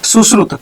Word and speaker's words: सुश्रुत: क्या कहते हैं यहाँ पे, सुश्रुत, ठीक है, प्रोनाउंसिएशन इसका अच्छा क्या, सुश्रुत।